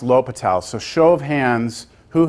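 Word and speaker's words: L'Hôpital: that it's spelled La hospitals but it's it's pronounced latal a show of hands who has not seen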